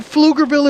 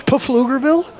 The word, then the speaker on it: Pflugerville: Well, yeah, but the P is silent. No, it's the Pfield. So Pflugerville is Pflugerville?